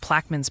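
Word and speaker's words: Plaquemines: in Louisiana it's pronounced pla's Parish with emphasis on the first syllable anything else you're curious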